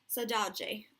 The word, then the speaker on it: saudade: And one of the words they mentioned there was saudade. I think I'm pronouncing that correctly. So you can see it there. That second D, I think, is pronounced like a J.